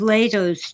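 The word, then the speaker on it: Lehto: happened all over I um listen to Steve lato's Channel either I typed this name in the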